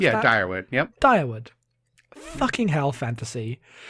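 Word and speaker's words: Dyrwood: Is that how you pronounce that? Yeah, Direwood.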